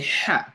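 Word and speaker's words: ح: So the ha will pronounce with the mouth, kind of like you release the throat and let some air breathe out from it.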